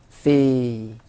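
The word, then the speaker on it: สี่: 4, 숫자 4는요 C 하고 발음했었죠.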